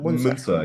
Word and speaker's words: Munzer: Is that how you pronounce it? Munzer? Munzer, yes.